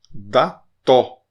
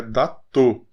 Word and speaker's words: Dató: Dató. As duas são abertas. Dató. Não é datô, porque não tem acento. Não tendo acento, é aberto.